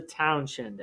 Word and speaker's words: Townshend: the following year in 1767 they passed the townshend act and the townshend act is spelled t o w n s h e